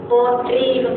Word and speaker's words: போற்றி: தமிழ்ல வார்த்தைகள் கொஞ்சம் நல்லா தெளிவா சொல்லணும். போற்றின்னு சொல்லணும். போற்றின்னு அந்த ஸ்ரீங்கிற அந்த சவுண்டு வரக்கூடாது. போற்றி, சரியா?